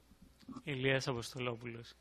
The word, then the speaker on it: Ilias Apostolopoulos: Actually, tell me how to pronounce it. It's Ilias Apostolopoulos.